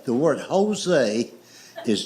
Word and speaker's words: Jose: I said, "I know it's a J, but it's pronounced with a H. It's like the word Jose. The word Jose is J O S E, but it's pronounced with a H.